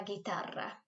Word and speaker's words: guitarra: Tocar la guitarra. If you can't roll your R's, don't worry. Just say it like tocar la guitarra. Okay, like send the R sound.